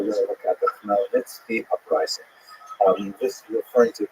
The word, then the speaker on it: Khmelnytsky: It's actually pronounced Khmelnytsky, with a guttural at the beginning.